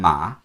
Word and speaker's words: 马: And the third tone, ma, 马 that means horse.